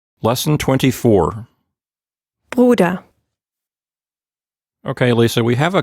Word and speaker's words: Bruder: So this is a good word for practicing the R sound, right? Because it contains both kinds. You get the gurgling R sound at the beginning and the open R at the end.